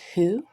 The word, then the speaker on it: who: This word is who, because if you try to tap it out, it would just come out not sounding right, because W says W, H says H, O says ah.